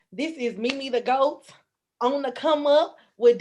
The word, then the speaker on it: Meme The Goat: Have I first off pronounced your name right? Mimi the Goat.